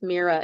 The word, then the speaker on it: Myra: And I um I'm actually the fifth Mera in my family and it's a family name and it's spelled unusually. It's m y r a but the y is pronounced like a double e.